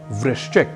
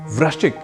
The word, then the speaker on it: वृश्चिक: यही शुद्ध उच्चारण है जैसे एक शब्द है वृश्चिक जिसका अर्थ है बिच्छू और इसी वृश्चिक शब्द को हम अक्सर कई लोगों से वृश्चिक इस रूप में सुन लेते हैं ऐसे